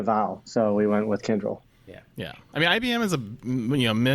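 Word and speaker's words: Kyndryl: go with one that kind of sounds like tinder with the new name kendrill and that's not spelled kendrill like any way you probably would think to spell it it's spelled k-y-n-d-r-l again that's k-y-n-d-r-l kendrill and all i can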